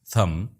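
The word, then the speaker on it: thumb: थम, no, right. थम में बी, नो में के और राइट में जी साइलेंट है।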